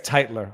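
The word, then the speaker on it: Tytler: alexander titler titler um i think it's titler i'm not gonna pronounce it hitler cause that actually reminds too much rhymes with too much something else viva never did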